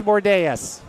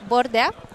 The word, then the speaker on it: Bordea: Andreas Bordeas.